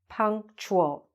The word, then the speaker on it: punctual: me John is punctual punctual okay it's a little bit weird to say it the T U punctual John is punctual John